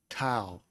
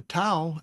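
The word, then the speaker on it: tav: Now we come to our final letter of this study, and that is the letter Tau. Now the Tau is spelled Tau, wall, Tau, Tau, and it's spelled in English T-A-W.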